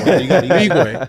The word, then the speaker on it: Nwigwe: So I was going to say, so I know earlier you were talking about, with the Tobe Nwigwe. My bad. Let me get the pronunciation. Nwigwe.